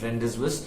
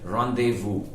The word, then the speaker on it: rendezvous: call this you know literally and say it as rendezvous it is not rendezvous it is said the way in english as well the way it is said in french and it is rendezvous now uh two parts